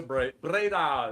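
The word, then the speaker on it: Breda: So, I went to Braida is how they pronounce it.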